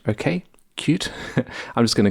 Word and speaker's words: Qt: starting off with qt although it says here it's pronounced cute okay cute i'm just going to call it qt why not now qt